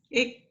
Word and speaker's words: ik: Ik. Gampang, oh, ya, ik. Ik ya. Jangan kanya ke Indonesia, ik. Kanya halus. Ik.